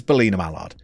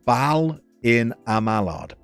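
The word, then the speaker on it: Ballinamallard: Junior, it is Belina Mallard from County Fermanagh. Hang on. It's pronounced Ballina Mallard. Ballina Mallard. No E sound.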